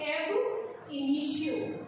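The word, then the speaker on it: ab initio: पर ध्यान दें कि इसे हम बोलते हैं एब इनिशियो।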